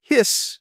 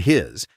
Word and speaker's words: His: Next up, the bundle of his, pronounced his, not his, a name that has tormented many students for decades.